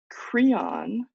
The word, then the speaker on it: Creon: to pronounce Zeus uh cron I have to say that very carefully because cron is edus brother-in-law and Creon is c r e